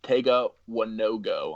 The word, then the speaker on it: Tega Wanogho: But Prince Tega Wanogho, it's pronounced Tega Wanogho.